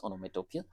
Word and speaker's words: onomatopoeia: The pronunciation goes like this: onomatopoeia.